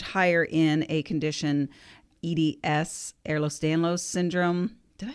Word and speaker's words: Ehlers-Danlos: The arthritis is much higher in a condition, EDS, Ehlers-Danlos syndrome.